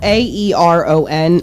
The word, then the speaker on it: Aeron: So the first one is this Aeron chair, and it's spelled Aeron.